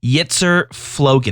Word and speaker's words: Yitzer Flogan: in-game name and your content creator name is Yeetszer Floan. Am I pronouncing that properly?